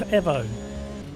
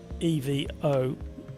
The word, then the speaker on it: Evo: In a lot of parts of the world, we pronounce EVO as Evo, as in Mitsubishi Evo. But the Italians prefer the pronunciation Evo, and they've made it very clear in lots of interviews that they would prefer it to be called Evo.